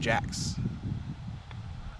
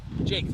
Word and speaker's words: Jakes: Gaylor, Merrick Trotter, and Garrison Jacks. Or Jackass, or I'm not quite sure. I did not hear how they pronounced it. Correct me in the comments if you know. What was that? Garrison, 21. Jakes, it is Jakes, okay.